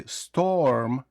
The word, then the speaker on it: storm: Так, насправді ми можемо тут вимовити storm. як о. Але найкраще для точнішої вимови вам потрібно просто опустити нижню щелепу, не складувати губи на о.